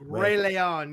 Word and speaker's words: Rey León: Make sure you say it right, Josh. Rey León, yes. León. We have our guest tonight is been wrestling for less than a year, guys.